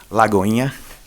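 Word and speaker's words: Lagoinha: Did I pronounce the name of the church correctly? Lagoina. It's Lake. Little Lake is basically what it is. Yeah. Lagoina.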